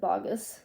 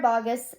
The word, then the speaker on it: Boggess: sierra boggess um notice i pronounce her name differently instead of bogus it's weird sarah boggess and um maybe a